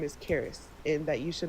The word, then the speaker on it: Cheris: her years and he her name is Cheris and it's spelled she C H E R I S. Um but he told me her name's not pronounced that way. her name is Caris.